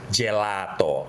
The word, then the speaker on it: gelato: Ngomongin soal makanan Itali gak cuman pasta ataupun cappuccino, tapi juga ternyata ada gelato. Bacanya mesti kayak begitu.